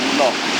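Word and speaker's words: Lough: Frankfurt Loch, they spell it Irish, they spell it L-O-U-G-H.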